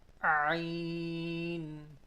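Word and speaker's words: ع: Ain. Ain. This is Ain. To pronounce this letter, the sound comes from the first part of our throat.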